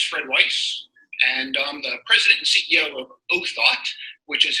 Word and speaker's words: Othot: Weiss and the presidency who thought which is how you pronounce name of the company it comes from original thought so once again it's own thought if you're wondering how